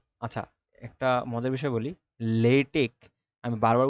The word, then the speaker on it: LaTeX: টিই এক্স এটাকে আচ্ছা একটা মজার বিষয় বলি লেটেক আমি বারবার উচ্চারণ করতেছি কিন্তু আমি কিন্তু লিখবো হল লেটেক্স এল এটিই এক্স্যা তো এইটা আসলে অনেকে লেটেক্স বলে এটা আসলে লেটেক্স না এটার নাম হল